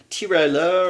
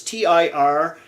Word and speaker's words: Tirailleur: Well, for French, it's like for the Senegalese troops and whatnot, Tiralleur or something. I don't know how to say it properly, but I want to look that up. It's Tirailleur.